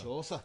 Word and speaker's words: Chaucer: It's Chaucer. Not Chalker.